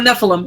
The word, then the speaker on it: Nephilim: Nephilim? Oh, Nephilim.